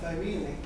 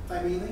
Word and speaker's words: Thymele: It parks right out in front of Thymele. Did you just pronounce the name of your own venue incorrectly? Thymele? I thought it was. Oh, it's Thymele. Okay, there's not Thymele. Never forget I said that. You're pronouncing your.